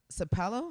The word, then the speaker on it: Sapelo: Island writers retreat that sounds fun and on sapelo how do you say that Sapelo Island Georgia